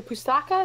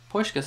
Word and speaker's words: Puskás: Like the Pustaka, is that how you say it? I think it's the Puskás award for the best goal. Pushka. Puskás, after the player, the Hungarian footballer.